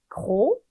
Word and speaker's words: gros: 뚱뚱한, 살찐이라는 뜻의 형용사 gros 해서 S 발음 없고 여성형으로 갈 때는 S 하나 더 추가해주면서 grosse 이렇게 됩니다.